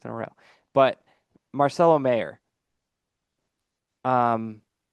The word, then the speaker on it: Mayer: a row, but Marcelo Mayer. Um, I'm never gonna get it right. I think it's actually Meyer, but I always say it wrong.